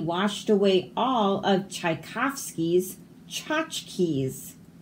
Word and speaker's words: tchotchkes: The charging tsunami washed away all of Tchaikovsky's tchotchkes. So we don't say the T.